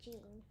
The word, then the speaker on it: Jean: And Jean rhymes with the queen, so I think there's going to be rhyming words in here.